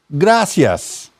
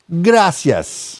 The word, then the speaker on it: gracias: not use it right the correct way to say please in Spanish is poror fa poror fa and the right way to say thank you is gracias gracias I'm sorry and excuse me